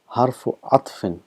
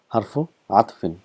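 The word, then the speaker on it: حرف عطف: This wow is called harfu atfin. Sorry, it's a spelling mistake here. It's not ghain, it's ain. Harfu atfin.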